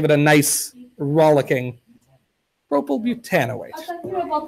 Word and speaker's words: butanoate: Propyl butanoate. It's got this kind of weird stress. Isn't that nice? It's much better though, right? So propyl butanoate. So they put a longer stress on the "an" for